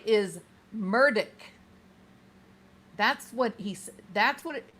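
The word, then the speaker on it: Murdaugh: So, I would suspect the man knows how to say his own name. Wouldn't you? I I think he knows how to say his own name. He his name is Alec Murdock.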